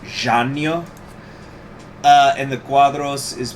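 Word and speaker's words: Jânio: i looked it up first name is i guess supposed to be pronounced giannio uh and the cuadros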